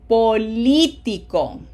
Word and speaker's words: Político: Notice every one of them has a graphic accent on the 3rd syllable. 3rd from the right.